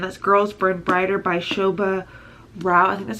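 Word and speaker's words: Shobha Rao: last night and this girls spread brighter by Shobha Roth that's how you say it this is a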